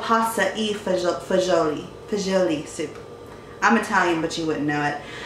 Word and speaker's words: pasta e fagioli: And the first meal is called a pasta fagioli, I think that's how you pronounce it, soup. It's actually called pasta e fagioli.